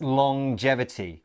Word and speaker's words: longevity: pronunciation of this word it's a little bit strange it's longevity so we have the at the end of long as normal but then there's this J sound as well longevity let's look at